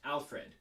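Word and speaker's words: Alferd: spelled like that but uh yeah yeah it's pronounced alfred there there's reason behind that and that's not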